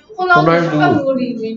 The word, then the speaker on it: 호날두: 근데 이게 호날두라고. 이게. 아, 호날두. 이게 호날두라고 읽는다고. 호날두가 축구잖아. 이게 왜 호날두일까? 아리, 메시랑. 아리 무슨 소리 라이. 내고 있어, 이거. 흐 소리 내고 있잖아.